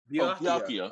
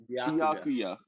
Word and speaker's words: Byakuya: Byakuya. Oh, Byakuya. Man, Byakuya. Byakugo. Say it one more time for me, Ty. Byakuya.